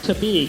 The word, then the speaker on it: Tabigue: it's the big a you have to pronounce it the Filipino way to be gay okay